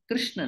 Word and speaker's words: कृष्ण: कृष्ण अध्यात्म यहां पर यह जो कृष्णा शब्द है यह बहुत बार आता है गीता में इसको ठीक से समझना चाहिए कृष्णा नहीं कुछ लोग इसका उच्चारण गलत करते हैं तो कृष्ण का अर्थ